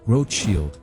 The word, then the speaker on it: Rothschild: famous the Rothschild family pronounced "Rote-shield" in the German dialect Mayer Rothschild sent his